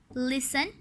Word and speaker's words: listen: The letter T is silent when we say the following words. इनमें अब letter T silent होगा. Often, castle, listen, whistle.